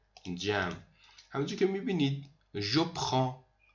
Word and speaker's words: prends: همونجور که میبینید je prends، نگید je prends، سر هم بگید je prends. اصلا این د و استی خونده نمیشه.